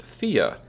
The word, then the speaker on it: Thea: it said both ways I think it's actually pronounced FIA as reported to me